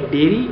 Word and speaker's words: dairy: भी कर सकते हैं प्रोनंसिएशन दोनों की काफी सेपरेट है इस वर्ड की है डेरी और इस वर्ड की है डायरी ऑलराइट इस वीडियो में इतना